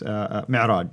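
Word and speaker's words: معراج: But that's where called the Mi'raj. How do you Mi'raj, pronounce yes. Yes, Mi'raj.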